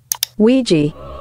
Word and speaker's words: Ouija: God, it may seem unrelated, but I've asked a data analysis expert to give us the proper pronunciation of this word. Ouija.